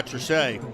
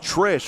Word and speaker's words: Trichet: Big run there by Trichet. It's actually pronounced Trish.